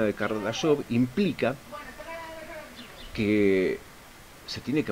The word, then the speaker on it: Kardashev: Porque en sí se basa en el concepto de un físico de origen ruso llamado Kardashev, se escribe Kardashev, pero se pronuncia Kardashev, que hablaba de los tres tipos de civilización que podían existir en base a el consumo y producción energética de cada uno.